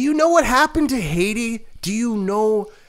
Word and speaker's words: Haiti: Haiti they call it it's Haiti I'm sure we say it wrong I'm sure they say it correctly I'm not even joking it probably is high tea though they wait they said it so many times in the movie I was like all right I get it I get it we say it wrong because we're dumb English speaking Americans we don't say Heidi right but they have a